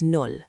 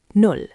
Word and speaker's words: null: Zero is null, zero. Sounds like nool. Repeat, null.